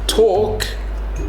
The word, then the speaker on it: talk: to pronounce these words talk and walk so she makes a good point here the L is silent so it's not walk